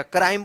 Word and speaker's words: crime: CRIME, क्राइम, क्या पढ़ेंगे इसको, क्राइम, क्रीम मत पढ़िएगा, क्राइम पढ़ा जाएगा इसको, ठीक है ना।